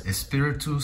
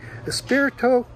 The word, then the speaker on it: Espiritu Santo: It's Espiritu Santo de Zuniga.